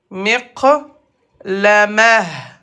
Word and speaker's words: مقلمة: Donc, miqlamaton, à la fin de la phrase ou quand on s'arrête, se prononce miqlamah.